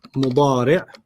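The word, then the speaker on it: مضارع: And then the present is mudari'. Mudari'. Mudari'. You don't have to pronounce the tanween, just mudari'.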